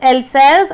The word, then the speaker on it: Alsace: Pronounce this thing properly. It is Alsace and Lorraine.